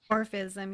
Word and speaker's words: Orphism: Orphism, yeah.